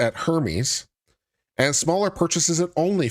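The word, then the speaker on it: Hermès: dollars in purchases yeah it's pronounced Herm well lah dah I guess I don't shop at the right boutiques man I'm just giving you a hard time sorry I'm not Ry enough to know that's pronounced Herm okay Herm I'm sorry the H is silence Federal prosecutors say Santos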